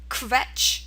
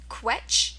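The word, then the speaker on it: Quetsch: this will be pronounced it's pronounced KET okay there's two ways to pronounce it qu or KET okay KET is another way to spell it or pronounce it um it sounds very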